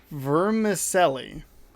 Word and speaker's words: vermicelli: topped with whipped cream vermicelli v e r m i c e l l i verm vermicelli now i i'm sure that it's supposed to be pronounced a little smoother than that like americans pronounce things